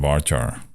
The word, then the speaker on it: varchar: telling you seriously that's the real way to pronounce at bar char okay and then you see us put the